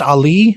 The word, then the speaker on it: Ali: And then we had our state championship at Pueblo, where Miss Leslie, is it pronounced Ali? Is that how it's pronounced? Yep.